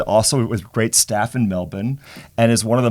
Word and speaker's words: Melbourne: in that sentence wasel you pronounced it correctly you didn't you didn't drag that out why thank you well done not Melbourne not Melbourne no melb well done well done